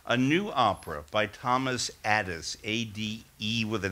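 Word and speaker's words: Adès: One thing that I left out, actually, was a new opera by Thomas Addis, A-D-E with an accent S, who's a British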